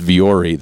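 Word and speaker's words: Vuori: brand not for new but for me um fiori and I'm hope I'm saying it right it's v r i it's been around I have it um it's viori they're Ponto pants and they Strat Tech shirt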